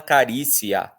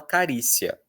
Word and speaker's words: carícia: Você não fala carícia, carícia, carícia. A gente normalmente fala carícia, carícia.